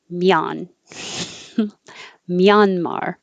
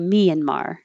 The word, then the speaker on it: Myanmar: now this i learned the dictionary says mian myanmar however i've heard a lot of people on american news say myanmar or myanmar but not myanmar so maybe we're all pronouncing it incorrectly but i've heard it pronounced multiple ways and i don't think any of them are the way the dictionary had malaysia excuse me malaysia